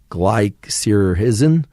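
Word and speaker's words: glycyrrhizin: but licorice contains a substance that I can't pronounce. G L Y C Y R R H I Z I N glycerhisen uh which is um of the glabra species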